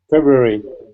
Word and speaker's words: February: February. February. It's a subtle R, but it is there.